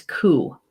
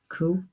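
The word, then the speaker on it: cú: being a healer hmm the Gaelic word for dog is cool and it's spelled Cu but it's but the phonetic is C double O ku so KU brings guidance and protection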